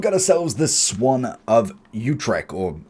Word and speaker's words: Utrecht: So I've got ourselves the Swan of Utrecht, or Utrecht, however you want to pronounce it.